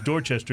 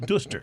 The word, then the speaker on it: Dorchester: But Dorchester is Dorchester, not Duster.